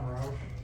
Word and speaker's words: Rauch: And the first one we have is Rauch. Yep. Did I pronounce that right? Close enough. Thank you. Please state your name and address. Okay, I'm Roush, and I live at 371 Bean Road, here in Lamar County.